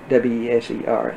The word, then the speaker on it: Weser: W-E-S-E-R, they pronounce it Weser in German, which is not a